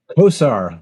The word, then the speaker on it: Kosar: pronounce your last name Kosar bit like ber Kosar who once quarterback the Browns he was a distant